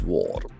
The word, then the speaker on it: war: Modi's war. Modi's war. War is under beautiful noun W A R. We can see the letter A has good O sound.